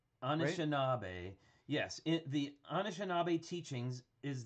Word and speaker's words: Anishinaabe: Thank you for putting it here phonetically. Anishinaabe, right? Anishinaabe.